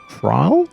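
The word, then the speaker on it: Ysayle: with the introduction of trial i think trial i think is how it's pronounced who is a really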